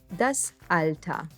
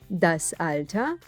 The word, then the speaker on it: das Alter: with a similar meaning the er at the end gets pronounced as a das alta das alta means age and is